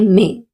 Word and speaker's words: me: Many people have the tendency of saying the word uh me as me like we do in English. But we do not say this in Spanish. We say may because in Spanish the letter E is pronounced as A.